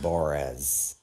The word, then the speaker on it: Bors: He also pronounces his name differently now. He used to say it himself. His name's Bors, which everybody would make fun of, but now he pronounces it Borez.